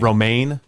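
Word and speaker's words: Romijn: Romaine.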